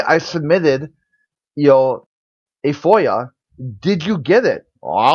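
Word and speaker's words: FOIA: I can't remember whoever it's pronounced yeah Foya for Foya there we go I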